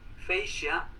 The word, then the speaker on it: fascia: Fascia o fascia, también se pronuncia así, es esta pared que vemos aquí, como esta pared vertical, frontal, la vamos a ver más en detalle.